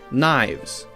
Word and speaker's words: knives: Now we have a silent K. So we don't say ke-nah, we say no. Knowledge, knave, knives, we say just And we also have